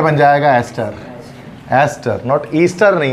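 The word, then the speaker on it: ester: ईस्टर की spelling में EASTER, ईस्टर लिखा होता है उसमें, ES है तो एस्टर पढ़ेंगे उसको, ठीक है।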